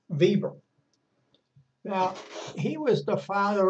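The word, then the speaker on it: Weber: evil by the way spelt w/e ber but he was German and that their w's are pronounced like our v's so it's max Bieber now he was the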